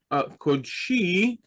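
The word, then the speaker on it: קָדְשִׁי: Right, a closed unaccented syllable. So we have the Kof and the Daled as one syllable, and the accent is on the last syllable. So Kodshi, and this would become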